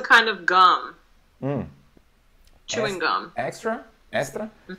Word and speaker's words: Extra: just a word so i would say extra extra yeah extra we say estra estra estra estra so why is